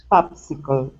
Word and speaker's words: popsicle: to the word popsicle instead of poop popsicle this is an ah sound pop popsicle popsicle okay very good let's go